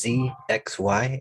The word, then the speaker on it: Zxy: that no worries uh it's z x y and it's a reference to the coordinates of planes it's first depth then